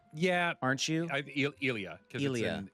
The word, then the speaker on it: Ilia: Lilia. Ilia. Uh uh. Ilia. Yeah, aren't you? Ilia.